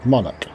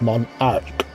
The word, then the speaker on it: Monarch: This is a moon and it's called Monach, which Americans pronounce monarch.